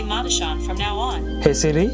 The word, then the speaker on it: Madushan: Madushan. Okay. Thank you. Which pronunciation is it okay for me to use?